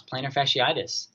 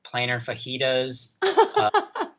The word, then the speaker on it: plantar fasciitis: story we had uh people cannot pronounce plantar fasciitis plantar fasciitis what do they call it one person said planar fajitas yeah plantar flagellitis that one's come up a couple times same with pronation like